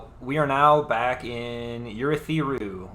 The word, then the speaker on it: Urithiru: We are now back in Urithiru, which Michael Kramer just once pronounced Urethriu, and it really threw me off.